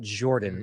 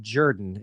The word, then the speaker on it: Jordan: It is pronounced Jordan-Hare Stadium. Jordan. Not Jordan. That is my apologies. If we get snobbish about something, that's what we get snobbish at. It was Coach Ralph Shug Jordan, and that's how he pronounced his name.